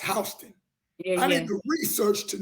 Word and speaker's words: Houston: going to house County Georgia it looked like Houston but it's pronounced hon I need to research to know that so